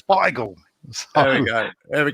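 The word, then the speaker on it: Beigel: people here yeah but bagel was like where the americans took the word and couldn't say it properly so you know where it's bygle there we go there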